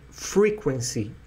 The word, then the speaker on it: frequency: gente fala né eu frequência em inglês é Frequency o acento vai a primeira coluna tá a primeira sílaba e as coisas elas